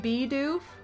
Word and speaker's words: Bidoof: It's pronounced Bidoof.